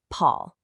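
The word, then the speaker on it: 跑: This creates the character pow pronounced Paul.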